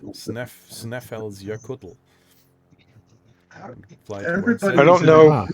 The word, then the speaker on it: Snæfellsjökull: It's called Snæfellsjökull, something like that. Snæfellsjökull. Jökull. That's the way it's being pronounced. Snæfellsjökull.